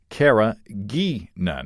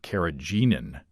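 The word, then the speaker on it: carrageenan: with caragan it's pronounced Cara G nun and the GE sounds like geek what are you saying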